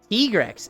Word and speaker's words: Tigrex: Do you say Tigrex or do you say Tigrex? Because there's a right way to say it and there's a wrong way to say it. And as frustrating as it is, Tigrex is the right way to say it.